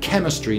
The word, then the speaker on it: chemistry: from the greek anyway so we study chemistry not chemistry and uh on the